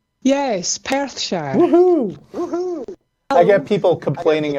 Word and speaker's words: Perthshire: It's Perthshire, right? Yes, Perthshire. Woohoo! I get people complaining about my pronunciation of Scottish town names.